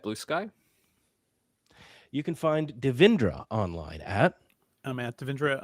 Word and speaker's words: Devindra: My name is Devindra phonetic. It's spelled phonetic.